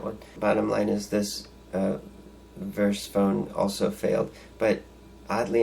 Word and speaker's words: Virse: So, and there was another phone called the Verse phone. That's spelled VIRSE, but they were actually had their screen supplied by IQH3D.